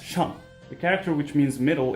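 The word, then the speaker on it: 上: This character, which means up, is pronounced shang.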